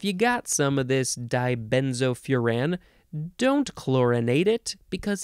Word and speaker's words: dibenzofuran: now the next word dibenzofuran dibenzofuran d-i-b-e-n-z-o-f-u-r-a-n you can also say die benzophuran you can emphasize the last syllable this one is a